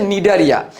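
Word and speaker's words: Cnidaria: কি নিয়া নিডারিয়া নিডারিয়া এখানে একটা সাইলেন্ট সি আছে রাখতে হবে বানানের মধ্যে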